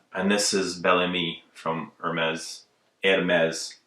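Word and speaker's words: Hermès: this is Bellamy from Hermes and mez you have to say it proper you can't say you can't pronounce the H so this is a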